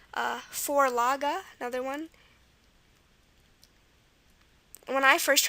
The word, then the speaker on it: Vorlage: When I first heard this word, I was like, why is that pronounced Vorlage? It looks like Vorlich. But now you know that the schwa at the end of German words is going to be E.